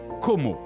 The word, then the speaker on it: Como: rives italiennes de l'enchanteur lac de Com que l'on prononce como en italien et anglais.